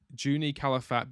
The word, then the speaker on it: Juni Calafat: I'm going to say Juni Calafat, because I think in Portugal they pronounce the letter J. In Spain they don't. It's Jose.